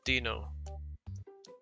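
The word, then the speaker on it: Δίνω: And it says, "Give." Dino. That's how you say it.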